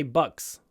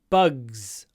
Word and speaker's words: bugs: don't know pronunciation bugs try not to say bucks Buck bugs bugs you need to try to get a at the end it's actually quite difficult